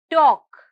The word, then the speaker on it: talk: is silent next word talk talk talk hear the letter l is silent the next word is